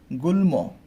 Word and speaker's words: গুল্ম: ল দিয়ে হচ্ছে গুল্ম, গুল্ম, তাই না, গুল্ম। তাহলে গুল্ম উচ্চারণটা কেমন হয়? গুল, গয়েস্কর গুল ও গুল, হসন্ত দিতে হবে, তারপরে ময়ের সাথে অধ্বনি আছে, অযুক্ত করতে হবে, গুল্ম।